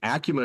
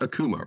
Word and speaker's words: ACUMA: Ling not about credit unions but how to pronounce acuma acuma is the correct pronunciation not Akuma correct correct that is correct so it has